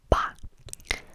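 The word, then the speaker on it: 八: 8, 8, 8, 8, is ba. Ba. Like ba, like the sound that a sheep makes, but ba. Ba, ba, ba.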